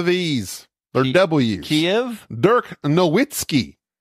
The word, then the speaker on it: Nowitzki: They do not pronounce the V's. They're W's. Kiev? Dirk Nowitzki. It's Nowitzki.